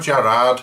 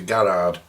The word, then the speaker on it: Garrard: Now this is a Garrard, this is a Garrard, not a Gerard, it's a Garrard.